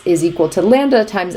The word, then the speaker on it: lambda: I just wrote is a Greek letter it's pronounced lambda it's spelled like this and it's just for